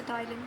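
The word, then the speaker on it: ptyalin: ये वाई है यहाँ पे, टाइलिन, पी साइलेंट, तो इसे टाइलिन कहेंगे, इट्स नॉट टाइलिन, ठीक है।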